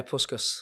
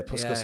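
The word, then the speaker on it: Puskás: it the puscas award how do you pronounce that yeah puskus yeah puskus award um I was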